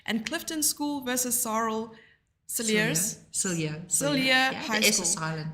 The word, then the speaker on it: Cilliers: And Clifton School versus Sarl Cilliers. Cillier. High the School. S is silent.